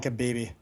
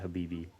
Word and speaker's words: Khabib: have I been pronouncing his name wrong this whole time? What have you been pronouncing it I've been as? saying Khabib. Yeah, that's wrong. It's Habib. Isn't there a K in